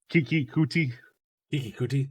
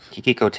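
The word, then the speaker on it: Keke Coutee: Kiki Kuti. Yeah. Kiki Kote, I believe is how it's pronounced, but yes.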